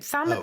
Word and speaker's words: thumb: No, thumb is a bit of a rogue case because the B there has got no origins in history.